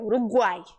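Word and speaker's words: Uruguay: na palavra Uruguai Paraguai a gente não fala urugu urugu não é Uruguai aí o Y tem som de vogal ele é considerado uma vogal seguimos escolheu já o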